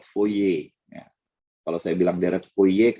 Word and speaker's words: Fourier: memang bisa didekati menurut furir rem itu deret fourier tahu ya Robbal ngomong benernya tuh bahasa Perancis deret foye Kalau saya bilang deret